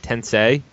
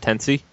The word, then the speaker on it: Tensei: shin megami tensei iv tensei is it tensei it's not tensey no it's not tense say it right say it